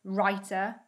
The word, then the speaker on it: writer: n with the w the w becomes a silent letter if it comes before the letter r at the start of a word so for example writer wreckage wrestler wrinkle and